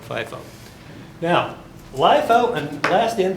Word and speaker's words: FIFO: in first out now I have heard people pronounce this Leo and fifo and if you want to that's fine I'm going to say lifo and fifo now lifo and last